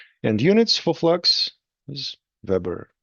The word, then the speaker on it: weber: And units for flux is Weber. Weber, like your favorite grill. Weber company, manufacturer of grills for your outdoor cooking.